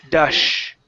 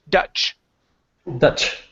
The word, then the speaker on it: Dutch: okay good all right now we're going to practice the CH sound so right here you're actually pronouncing an sh you were saying Dash instead of dut it's ch Dutch Dutch good job okay we